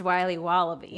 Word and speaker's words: Wiley Wallaby: It's pronounced Wiley Wallaby. Well, it's very good. It's called Wiley Wallaby, and it's delicious.